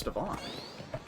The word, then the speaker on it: Stevan: No, that's a V, so it's Stevan.